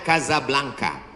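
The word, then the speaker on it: Casablanca: kuliah nama negaranya Maroko ibukotanya tulisannya casablangca cara bacanya Kadzab langka Kaza artinya rumah Blanca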